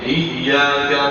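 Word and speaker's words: إِيَّاكَ: wa iyaka nasta'in ya di situ ada tasdidnya sehingga cara membacanya harus ditekan iya Iya. Iyyaka na'budu wa iyyaka nasta.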